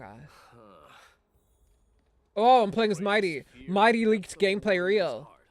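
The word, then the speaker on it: Mydei: Like I thought it was my day, as in like today is gonna be my day. But no, it's Mighty.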